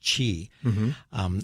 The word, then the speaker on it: qi: is a japanese term the chinese pronunciation is qi and so some people